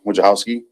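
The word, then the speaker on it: Wojciechowski: State and spell your name yep it's Wachowski Ada which house is spelled w-o-j-c-i-e-c-h-o-w-s-k-i exactly like it sounds just like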